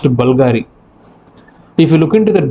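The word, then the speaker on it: BVLGARI: will look like it is bvl G it's pronounced Bulgari if you look into that bottle it will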